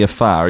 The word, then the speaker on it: Afar: That community that you have become a part of, the Afar, is that how we say it correctly? Afar, yes. Afar.